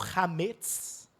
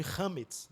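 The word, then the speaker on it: חמץ: gente o conceito do hametz. Tem muita gente que chama de hametz, né? Que é a pronúncia Yiddish, mas o hebraico mesmo é hametz, ok? Uma oxítona, hametz, que vai ser traduzido como fermento para a gente.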